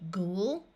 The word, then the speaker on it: ghoul: a kind of grain in both of these words the O and U will have the long oo sound which is the ooh of the word Moon so this word will be ghoul and ghoulish if you